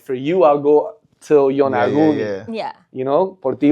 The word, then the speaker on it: Yonaguni: So Yonaguni, for those that don't know. So that's how you pronounce it, because we couldn't figure out how to pronounce it.